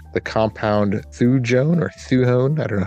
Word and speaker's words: thujone: A huge amount of thujone or thuone. I don't know how to pronounce it. It's Thujone.